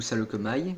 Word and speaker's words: Saleucami: Alors cette mock se passe sur la planète Salokami, ou Salokamai, il y en a certains qui le prononcent comme ça.